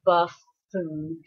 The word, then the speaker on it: buffoon: Yep, it's 2 syllables and double consonant. The syllable breaks always between the double consonant, so it's buffoon.